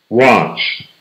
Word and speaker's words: watch: Watch. Đây là watch. Con ch phía sau. Watch. Watch. À, mình đọc. Mọi người hay đọc là what đúng không?